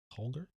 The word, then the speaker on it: Holder: What could you tell me about Lily Halder? Mhm. Halder. Halder. H-O-L-D-R. Halder. I give you 15 credits to go. It's spelled Holder, but I'm specifically making it I'm a Halder.